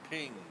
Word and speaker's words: PNG: found that out that PNG is pronounced ping oh yeah you didn't